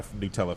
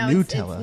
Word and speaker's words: Nutella: We didn't do the bang toast only because I know you're not a Nutella fan. I don't like Nutella. See, so Nutella, not Nutella. No, Nutella.